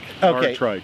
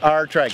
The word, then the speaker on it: Aartrijk: time but it's capital r and tri Bike R trike R trike that's how we pronounce it that's exactly right all right so